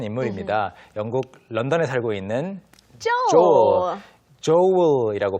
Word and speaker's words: Joel: 영국 런던에 살고 있는 Joel. 조엘이라고 발음하고 뭐 우리말로는 조엘 정도가 되겠죠.